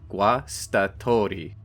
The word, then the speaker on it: Guastatori: Let's start with the pronunciation, Guastatori. Say it a few times out loud, it's easier than it looks.